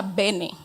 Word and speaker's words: bene: En su definición sencilla también es una palabra que viene de la raíz bueno, del latín que se pronuncia bene.